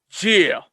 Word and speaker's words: Jeah: Really say the J. Jeah. Like Chia Pet with a G.